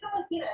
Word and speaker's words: Celestina: And how do I pronounce it? I'm sorry. It's Celestina, yeah.